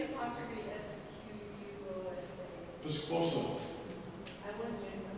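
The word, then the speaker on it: P'squosa: Piscosa. I wanted to know how to say it properly. Thank you. Piscosa, yeah.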